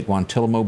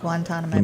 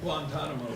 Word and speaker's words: Guantanamo: how do you say guantalamo bay did i say that correctly guantanamo let me cut back over here these guys that know that how do you say it guantanamo there you go i said it wrong